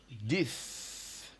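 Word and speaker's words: dix: in French then is this let's verify that this very well this so just like we said sis we still have this so the X again here is pronounced as though it was s d i s that's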